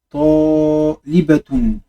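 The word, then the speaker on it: طالبة: Au féminin, une étudiante, ça fait talibatun. Libatun. Talibatun, étudiante au féminin.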